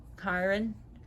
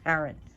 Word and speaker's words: Charon: So anyways, Karen, not Chiron, Karen. Some people pronounce it Charon.